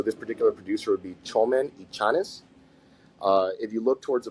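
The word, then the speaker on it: Txomin Etxaniz: But TX is pronounced cha, right? Cha. So with the language out of Basque, the Euskara language, TX is cha. So this particular producer would be Chomen y Chanes.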